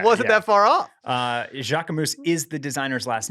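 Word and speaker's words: Jacquemus: to admit that uh it is not Jacques Mew what is it it's Jacques moose oh okay yeah is it yes which seems to go against the way that you're supposed to pronounce French things I feel like they I feel like the S is constantly silent I would have just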